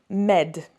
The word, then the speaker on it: m'aident: Mes amis m'aident. Okay, especially when you're talking about something helping you, it's nearly pronounced like this, med, like medicine.